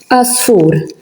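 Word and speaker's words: għasfur: So we say Asfur because the Ein is at the beginning of the letter.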